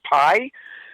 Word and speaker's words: Pai: It's spelled P-A-I, but pronounced Pie, and it's not an apple pie.